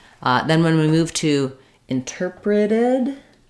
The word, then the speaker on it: interpreted: Then when we move to interpreted, our T changes to a flap, interpreted, and we have the id ending, interpreted.